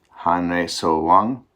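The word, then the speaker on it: 한래서왕: Now let's hear it pronounced. First, Korean. Han-rei so-wang, Japanese.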